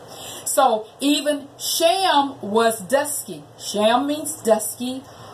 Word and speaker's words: Shem: Also, Shem really is pronounced Sham, not S-H-I-M, but S-H-A-M, Hebrew spelling.